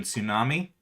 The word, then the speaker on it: tsunami: is there see in tsunami because um because it's a japanese loan word and they do make the tsu sound well you you